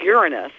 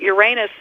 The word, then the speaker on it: Uranus: Greek well doesn't it the preferred pronunciation would be Uranus but but Uranus for whatever reasons just hard to say with a straight face I'm very sorry I